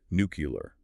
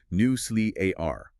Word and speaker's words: nuclear: The error is swapping the L and the E, resulting in the infamous nuclear. The correct British pronunciation is firmly newly a r a clear three syllables with a stress on the first syllable.